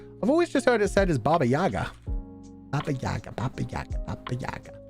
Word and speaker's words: Yaga: video to teach me how to say Baba Yaga just don't listen to them it's Yaga I